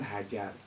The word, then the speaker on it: Hagar: istri tiga istri Iya Sarah hagar kalau kita bacanya kan hajar hajar mereka hagar G itu dibaca J gitu ya karena lahjah itu